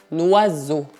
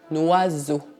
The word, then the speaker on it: oiseau: E por fim, as letras E mais A mais U, que devem ser pronunciadas como um bloco e que fazem o som O. Portanto, essa palavra não é pronunciada oiseau, mas un oiseau. Un oiseau.